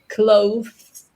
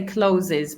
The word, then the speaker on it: clothes: This is a really difficult word for me to get my students to pronounce, right? Um, sorry. clothes. That was nice. That was good. It It's really tough. We We just We don't say clothes or lots of people say closes, but that's more like closes the door.